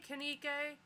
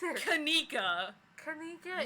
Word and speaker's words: Kanika: conked out they're okay canike can you pronounce her name right one time kanika literally weed it out like it is spelled it is literally fanatic